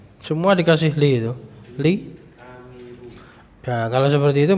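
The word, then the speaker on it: عامر: Kalau Amir ain terus alif. Amir.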